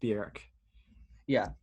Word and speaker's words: Björk: Anyway, technically pronounced Björk, I think, with an umlaut. Yeah, she is pronounced Björk. Yeah.